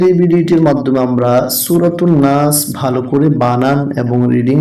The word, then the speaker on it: ناس: নুন আলিফ জবর না সিন জেসি নাসি। যখন আমরা এখানে থেমে যাব তখন উচ্চারণটা হবে নাস।